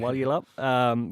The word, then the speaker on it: Walyalup: Yeah, Walyalup, which will be a cracker, and it is fantastic to see.